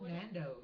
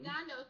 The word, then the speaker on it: Nando's: I forget how to pronounce it. Tornadoes? You mean the restaurant he likes the Yeah. most? Nando's. Nando's.